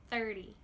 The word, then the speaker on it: thirty: And in the multiples of ten over here, like 30, We want to make that T make that sneaky D sound.